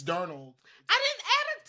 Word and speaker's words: Darnold: There's no T in Darnold. It's Darnold.